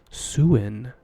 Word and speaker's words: Sin: ball at night is known as swin suin is pronounced properly spelt sin s-i-n don't get confused to